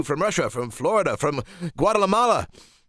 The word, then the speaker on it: Guatemala: Hello to you from Russia, from Florida, from Guatemala. Wait, did I say that right? Guatemala. I added an extra syllable in there.